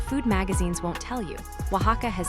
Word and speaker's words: Oaxaca: Number 4 is Oaxaca, Mexico. Pronounce it Oaxaca.